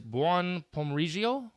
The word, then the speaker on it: buon pomeriggio: my audience so that good afternoon in Italian is buon pomeriggio I need the extra syllable there okay we want to